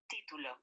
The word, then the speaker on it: título: The difference is in the pronunciation. Título. Okay, because in Spanish, título is different than in English, I. You're going to hear an I sound in the middle.